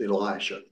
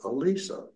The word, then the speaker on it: Elisha: looked at pronunciation and so we're on good ground with Elisha but in particular in the Jewish Community they do pronounce it Alisa so if you hear